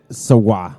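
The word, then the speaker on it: Sauget: through January 28th and saga Illinois it's pronounced so wha yes put on the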